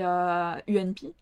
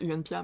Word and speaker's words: UNPA: en version anglaise, et UNP, qui moi, personnellement, j'ai toujours prononcé UNPA, mais il y a un A à la fin du groupe, ils le prononcent pas, je ne sais pas pourquoi.